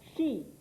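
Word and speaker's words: 四: considered unlucky in japan the number four pronounced as she is not considered lucky because it also sounds like the word used for death so most of the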